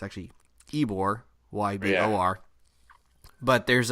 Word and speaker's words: Ybor: And this was played in Tampa, and it's an homage to Ybor City, which people look at and pronounce as Ybor. It's actually Ybor, Y-B-O-R.